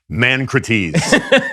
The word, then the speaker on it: Mancrates: If you studied ancient Greek, you would know that the correct pronunciation of that is Mancrates. But anyway.